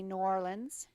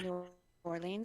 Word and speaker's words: New Orleans: And as I'd like to see New Orleans, it's not New Orleans, it's New Orleans. New Orleans. Got to say it like you're there, right?